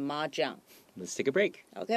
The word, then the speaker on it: mahjong: 好，所以麻将这个字的发音哈，就是从我们的中文麻将，所以念成 mahjong.